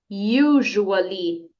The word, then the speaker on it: usually: usually usually isso então aqui a letra U você vai pronunciar como se você estivesse falando you você em inglês como que é você em inglês you então então você começa a pronunciar essa palavra como se você estivesse falando você you usually muito bem Olha só